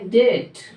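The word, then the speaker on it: debt: कर्जा करोगे कर्जा करो इसमें बी होती है साइलेंट होती है उसको पढ़ा जाता है डेट डेट मेंस होता है रेड समझ गए रेड लेना होता डेप्ट अभी साइलेंट होती डेट पढ़ा जाता है जनरली हमने लेफ्ट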